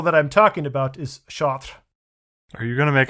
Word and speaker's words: Chartres: She says, where do you want to go? And I'm like, Chartres. She's like, Chartres? And I'm like, Chartres. And she's like shrugging her shoulders. And then I finally just spell it out, these words. And she's like, oh, shot. I'm like, yes, shot.